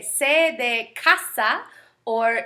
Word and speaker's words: casa: So you have two ways that you can pronounce the letter C, such as casa with the hard C sound, or cerveza.